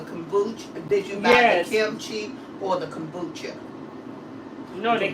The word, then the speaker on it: kimchi: Oh, I'm here pronouncing it. Kimichi. Kimchi. Kimchi.